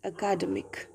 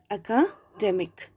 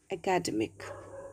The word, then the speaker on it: academic: delay the error is in my pronunciation i pronounced academic as academic right so here we have to rectify we have to give a stress here demik okay academic course this is an academic course okay not academic all right you should not pronounce it in